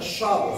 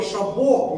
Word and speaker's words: Шабо: Поэтому, дамы и господа, правильное произношение это шабу, с ударением на первом слоге. Никакого шабо не употребляйте, потому что это неправильное произношение. Многие в Украине говорят неправильно, потому что это не французское слово.